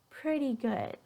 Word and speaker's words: pretty: So that T again is going to change to the D, but like pretty, it's just going to be a D. Really light D.